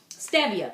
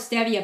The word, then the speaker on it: stevia: What they use is something called stevia. People pronounce it stevia, but it's actually stevia.